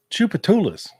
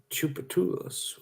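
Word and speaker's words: Tchoupitoulas: Yes, and thank you, No True Flags, for your excellent pronunciation for Joe. There it is, Joe. Do you see that? Chupatulas. Chupatulas.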